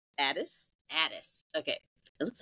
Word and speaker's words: Ades: at any age my guest today is Kim Andes pronounced Addis Addis okay it looks like Andes but okay